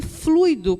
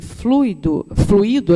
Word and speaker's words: fluido: E esse fluido cósmico universal é o que dá origem em todos os elementos. E essa palavra, gente, embora muitas pessoas pronunciem fluido, aliás, é fluido mesmo, porque significa é como se fosse uma energia mesmo.